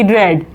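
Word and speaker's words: read: आर ई ए डी रेड spelling same होती है रीड और रेड की लेकिन उसको जब हम प्रोनंसिएशन करते हैं उसका तो हम रेड बोलते हैं।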